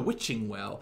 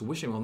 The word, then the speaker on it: Witching Well: It's Wishing Well, not Witching Well. Does no one know how this is pronounced?